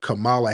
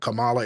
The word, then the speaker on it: Kamala: correct us on what Kamala Harris's name was, it's not Kamala, it's Kamala. Like, no, I speak FBA dialect, and my dialect is Kamala.